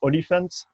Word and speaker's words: OLIFNT: How you pronounce? It's Oliphant. Oliphant. We dropped the A.